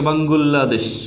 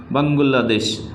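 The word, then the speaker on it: 방글라데시: ভিন্নভাবে উচ্চারণ করে থাকে যেমন বাংলাদেশকে বলে থাকে বাঙ্গুলা দেশ বাংলাদেশকে বলে থাকে বাঙ্গুলা দেশ আমেরিকাকে বলে থাকে আর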